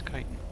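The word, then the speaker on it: chitin: I think it's kiten or at least if maybe chitten is just an alternate pronunciation but pretty sure it's kitan.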